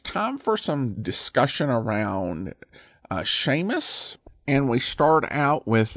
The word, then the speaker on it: Seamus: It's like the difference between the way the S is pronounced in the English word sure, slender, and suck, broad."